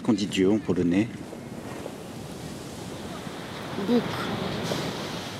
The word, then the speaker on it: Bóg: Bóg. Comme Facebook? Oui, comme Facebook. Mais ça s'écrit Bog. B-O-G.